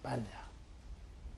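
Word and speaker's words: paññā: 빨려로는 빤야라 그래요. 빤야. 이것을 우리식으로 그냥 발음해서 반야다 이렇게 말합니다.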